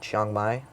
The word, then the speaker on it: Chiang Mai: then we went to uh I believe it's pronounced Chiang Mai.